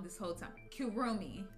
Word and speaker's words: Kirumi: wrong this whole time kiromi i've been saying kirami kurumi oh my lord